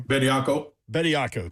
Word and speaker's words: Bediako: Revolving around the Tennessee-Alabama game, obviously, Saturday was the immediate availability of 3-year pro Charles Bediako. Is that how you pronounce his name? Bediako, thank you.